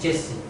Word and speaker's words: JC: Parce qu'en réalité, dans la nouvelle, il y a une personne qui s'appelle JC et qu'on prononce Jesse.